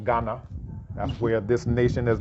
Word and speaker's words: Ghana: But the GH is a R sound.